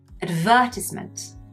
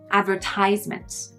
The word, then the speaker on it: advertisement: Someone from the UK would say advertisement. Someone from the US would say advertisement. We pronounce the second syllable advertisement. They pronounce the third advertisement.